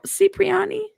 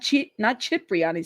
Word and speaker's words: Cipriani: Cipriani? Not Cipriani, Cipriani, right? Okay. Thank you. I appreciate it. Oh man. It's Cipriani with the Italian punctuation.